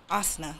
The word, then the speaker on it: asana: fitness-based poses that prioritize fitness-based poses over adaptable asana. Is that how I pronounce it?